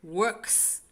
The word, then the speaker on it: works: I heard that S after works, because many times you say work. And I heard works.